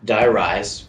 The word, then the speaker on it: Die Rise: ops so the map die rise which is if you haven't gotten it yet it's supposed to rhyme with high rise because you know the